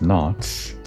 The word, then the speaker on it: noughts: But I guess phonetically it sounds the same thing as what Komori's trying to say, knots and crosses.